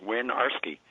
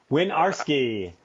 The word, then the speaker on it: Winiarski: It's 3 syllables, Winiarski. And so that you'll never forget it again, those 3 syllables are all words in themselves. Win, R, and ski. Winiarski.